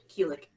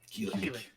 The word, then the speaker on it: Kilik: Keelik. Keelik.